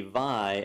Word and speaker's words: vi: the the pronunciation of VI we'll just cover this real quick let's see what flavor of heresy you're into some people say V some people say VI some people say it's